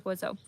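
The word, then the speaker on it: Wuzzo: So I chose Oiseau because, first of all, it's French. It's spelled W-U-Z-Z-O.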